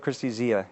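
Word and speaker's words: Kristi Zea: Is that how you pronounce it? Tak Fujimoto and Christy Zia, yeah.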